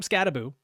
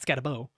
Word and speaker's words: Skattebo: But yeah, let's start at running back 7, where we've got Cam Skattebo. I've been told that is how you pronounce it, not Skattebo, from Arizona State. Skattebo, yes.